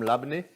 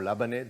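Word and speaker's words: labneh: so here i have some labne or labane depending how you pronounce it um so this labane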